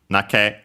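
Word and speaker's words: 泣け: For example, here the example we have naku, to cry, becomes nake. And yeah, it's accented on the ke.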